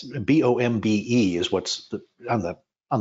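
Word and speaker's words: Bombe: it in there it's b-o-m-b-e is what's on the on the photo but it was actually pronounced bomb correct yes it was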